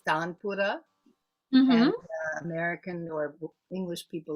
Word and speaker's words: tanpura: actual instrument itself well in indian pronunciation is tanpura american or english people like to call it tambora oh tampura you're right so they're